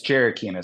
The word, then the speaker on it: Gerakines: Yeah, it's Jerikinis.